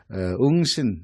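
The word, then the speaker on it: 應神: 출발한 오진이라고 하는 이제 일본에서는 오진이라고 부르지만 사실은 응신 한자로는 응신 발음하고 어 그는 웅진 땅에서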